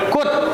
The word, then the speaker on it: could: Ini bacanya L-nya tidak ada. Kut.